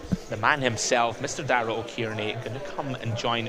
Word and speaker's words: O'Kearney: it's Dara O'Kearney, not O'Kearney. Is my pronunciation been wrong all this time?